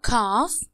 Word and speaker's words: calf: Calf, calves. وهنا ال L is silent. Okay, calf, calves.